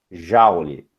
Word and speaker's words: Joule: Joule, tá? Dessa forma como se escreve, Joule.